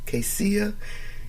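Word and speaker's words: Casei: in July 2019 after his wife Casey Jones Casia c-a-s-e-i now he's saying that's how you pronounce it but that's how I look to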